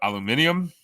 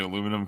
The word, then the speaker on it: aluminium: We have the right pronunciation of aluminium. And when we're talking to Americans, we just say aluminum because we don't know what the fuck they're gonna think we're talking about.